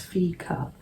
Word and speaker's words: fika: It's called Fika, F-E-E-K-A, pronounced Fika.